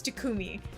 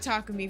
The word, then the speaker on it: Takumi: I was told that it's it's Tacumi and I went and reverified it is Tkumi. I don't know where I got Takumi from, but I think it's just the whatever.